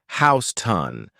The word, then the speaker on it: Houston: water becomes water h Houston Street is pronounced house ton Forest Hills sounds like